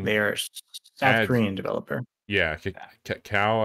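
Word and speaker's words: Kakao: south korean developer yeah cow i think is how you would say it's not spelled like cacao would be but um they've got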